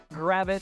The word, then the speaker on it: Gravette: to time but it is called gravit Arkansas and no one seems to know why the little e is on the end of gravit as the town's founder